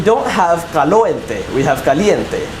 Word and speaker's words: caliente: You know, caliente has an I sound, whereas calorie has what's known as a schwa.